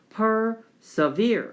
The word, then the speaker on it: persevere: 섬겨준다는 거니까 보존이었고 persevere 이렇게 나와 있는데 이게 발음 기호가 persevere 이렇게 해야 돼요.